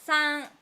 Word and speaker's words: 山: Then ancient Japanese people decide this kanji is pronounced as san, like Chinese, shan, san, and yama.